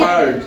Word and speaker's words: herd: স্যার এইচ ই আর ডি এটার উচ্চারণটা জানি কি? এইচ ই Herd.